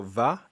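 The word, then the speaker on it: و: Date of birth. And they have here, this is interesting. So va, and colloquially it's pronounced o.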